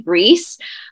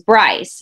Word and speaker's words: Brice: And it's actually French. It's actually Brice. But when they came over from France, like a couple hundred, however many years ago, they adapted the English pronunciation, which is Bryce. So Bryce is the name now, but with the Y, that's the Scottish version, but with the I, it's Brice, which is French.